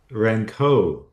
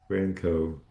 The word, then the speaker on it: Rankow: Rankow. Rankow.